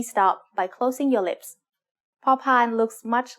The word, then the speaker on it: พอพาน: The sound of พอพาน as the initial consonant of a syllable is like the P in panda. You should feel air coming out of your mouth when you make this sound.